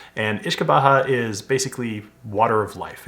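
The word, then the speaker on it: uisce beatha: uh derives from an old gelic term called ish kabaha and ish kabaha is basically Water of Life it derives from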